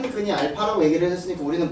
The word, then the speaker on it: 알파: 자, 보시면 x제곱 - 5x + 1은 자, 0의 한 근을 자, 거기 나오는 문자가 a가 아니야. 이거 알파라고 읽어. 알겠지? 드디어 알파라는 걸 외운 거야. 알파야. A 아니야.